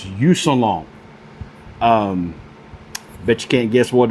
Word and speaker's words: Yousunlong: So this is a product that was sent to me by, and I hope I pronounce this right, Yousunlong. It's Yousunlong.